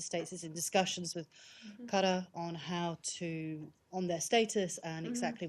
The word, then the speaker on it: Qatar: stay in the Gulf, but Qatar? Yes. Or Qatar? I wanted As to Americans like to say. As Americans say, I'd like to talk about ask about